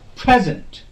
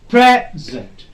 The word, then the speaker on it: present: Present, present. Pre will be bit louder, bit longer, on a higher pitch than zen. Present.